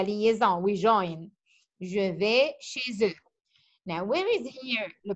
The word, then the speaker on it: chez eux: Je vais chez eux. It's eux, but we pronounce it the because there is a Z. We make la liaison, we join. Je vais chez eux.